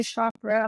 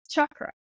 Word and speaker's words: chakra: balance your R chakra as say Shakra I think the correct correct pronunciation is chakra actually I'm not going